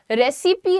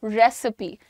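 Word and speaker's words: recipe: The pronunciation is रेसिपी, रेसिपी नहीं, रेसिपी, रेसिपी, right everyone, easily written here.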